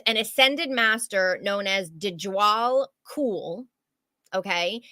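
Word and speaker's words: Djwhal Khul: with him is an ascended Master known as dejal cool okay it's I'm gonna spell it because it's it's uh you'll never get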